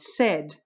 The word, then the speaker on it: said: So laid is pronounced like paid, but not said, which is pronounced like bread, but not bead.